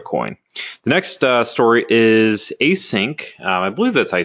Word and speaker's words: ACINQ: there with zero coin the next story is a sink I believe this I say it's spelled ACI NQ they lost their code signing